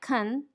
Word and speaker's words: can: and in a sentence the simple positive can should sound like kan the simple negative can't